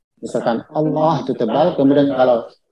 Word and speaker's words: الله: Cara membacanya huruf Allahnya itu ditebalkan. Huruf Allah ditebalkan. Kecuali ketika setelahnya kasroh, maka dia ditipiskan. Misalkan Allah itu tebal, kemudian kalau lillah, maka dia ditipiskan.